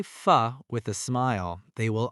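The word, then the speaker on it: phở: P-H-O. How do most tourists say it? Pho, like go. Is that correct? No, it is pronounced pho, like a question, or pho, like the start of the word fun.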